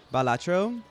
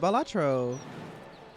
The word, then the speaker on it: Balatro: Balatro, that's how you say it. Balatro.